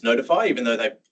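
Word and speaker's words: ntfy: that use this thing, NTFI, which I guess you pronounce notify, even though they like save money on bales.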